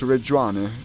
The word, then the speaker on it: Reggiane: So it's Reggiane. Well, it's more like Reggiane.